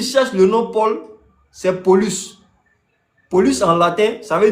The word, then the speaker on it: Paulus: Et petit, là, on prononce ça Paulus.